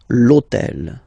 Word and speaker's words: l'hôtel: purpose this hôtel, okay, because it starts with H, but remember that in French we don't pronounce H. Okay, so basically the first sound of the word is the vowel O. Okay, so for the same reason, needs to disappear.